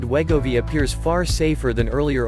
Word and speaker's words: Wegovy: Wegovy, pronounced Wegovy, is a synthesized version of a gut hormone that curbs appetite.